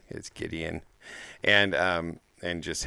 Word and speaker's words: Gideon: our minds back to a guy whose name actually rhymes with Midian his name is Gideon and um and just